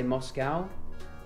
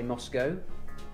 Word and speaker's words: Moscow: capital Moscow Moscow see Americans say Moscow we say Moscow well you'd say cow c-o-w cow why would be a Moscow